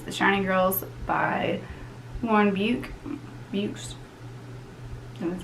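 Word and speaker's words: Beukes: The 4th book I read, in the last physical book that I read, is The Shining Girls by Lauren Bukes. That's how you pronounce her last name.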